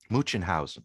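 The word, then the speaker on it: Münchhausen: Munchenhausen, that's it. The Munchenhausen trilemma. How about that for a mush of syllables?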